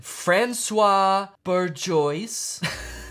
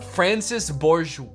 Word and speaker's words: Francis Bourgeois: No, wait, why did I say Francois? His name's Francis. What the fuck? Francis Bourgeois.